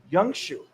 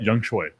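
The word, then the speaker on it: Younghoe: It's Young Shu. Is it how you say it? Young Choi.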